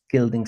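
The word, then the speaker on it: Guilding: Gilding spelled with a U like like building except with a G.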